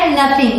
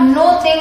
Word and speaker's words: nothing: Pronounce किया था, लेकिन यहाँ पे आप नो थिंग नहीं बोलेंगे, यहाँ आप बोलेंगे नथिंग। तो यहाँ NO को न ही प्रोनाउंस करेंगे, नथिंग।